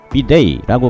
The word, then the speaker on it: bidet: 영어로는 비데이라고 발음합니다.